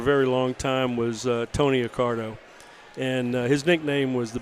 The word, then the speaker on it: Accardo: I got the nickname is your last name Accardo Accardo yes well naturally Mars would